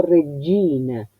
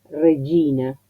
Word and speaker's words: Regina: Y no es doble. Ya sé que uno le pone tanto énfasis, tanta preocupación para que se pronuncie bien, que muchos van a hacer algo Regina, como destacando. No. Piensen que para el italiano es un sonido natural. Regina, Gina, como los que se llaman Gino, Giorgio, es un sonido un